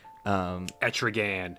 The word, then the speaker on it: Etrigan: Etrigan. Etrigan. It has to rhyme for Gone the form of man. Arise the demon. Etrigan.